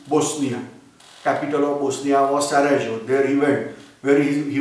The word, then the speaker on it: Sarajevo: He visited capital of Bosnia, that is called as Sarajevo or Sarajevo. That there is confusion between pronunciation of J. As we discussed in earlier history lecture also, in variety of world language, there is confusion between J and pronunciation of J and pronunciation of Y. In India also you are aware Yamuna or Jamuna, like that Y and J confusion is there.